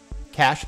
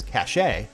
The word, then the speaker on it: cache: Cash that sometimes people mispronounce as cache is data stored on your computer that can help to make future requests for that data faster.